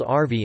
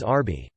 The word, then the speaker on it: arvi: It is called arvi in Urdu, Hindi in Central and North India, which is often mispronounced as arbi.